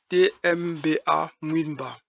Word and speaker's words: Nwitmba: La plupart du temps, on l'appelle WI. WI-T-M-B-A, Nwitmba. C'est la bonne prononciation, c'est un nwit avec le ng.